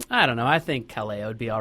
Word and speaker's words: Kaleo: I think Kaleo would be all right with us just shutting it off there. Is that how you pronounce it? Kaleo?